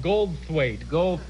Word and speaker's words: Goldthwait: Goldthwaite.